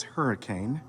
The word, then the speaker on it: Hurricane: By the way, the reason why it's called that is it is spelled as hurricane, but the settlers pronounce it as hurricane, but they called it that because of the high winds in that area.